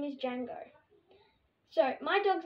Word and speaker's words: Django: my dog's name is django so my dog's name is django starting with a d the d is silent so you say it django i was so proud